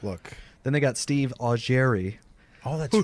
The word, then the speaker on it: Augeri: Then they got Steve Augeri. Oh, that's right. Whose name just happens to rhyme with Steve Perry.